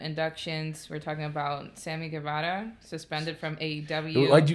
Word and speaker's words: Guevara: If I say Guevara. Say it like a gringo says, Sammy Guevara.